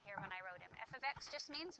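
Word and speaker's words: f(x): function notation right here when I wrote him F ofx just means y it means the output when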